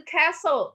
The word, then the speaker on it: castle: Nah, castle, bacanya castle, jangan dibaca castle. Castle, jangan. Castle.